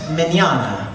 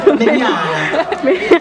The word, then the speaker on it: Mignogna: My last name is pronounced Mignogna, like tomorrow in Spanish. Mignogna.